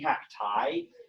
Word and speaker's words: cacti: another language it'd be cacti now we don't pronounce this long eye like i in latin class it's like e yeah yeah yeah and